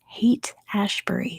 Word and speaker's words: Haight Ashbury: It's the Haight Ashbury is how you pronounce it.